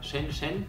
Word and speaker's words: Shenzhen: After 22 hours we arrived here in Shenzhen or which I learned to today, how it is pronounced properly.